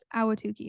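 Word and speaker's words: Ahwatukee: cleaning is it awatuki it's awatuki it's just you don't have to over pronounce any of the syllables awatuki there you go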